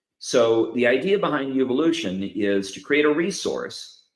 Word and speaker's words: Uvolution: I'm also birthing a platform called Uvolution. Uvolution is spelled like the word evolution with a U. So it's your evolution, essentially.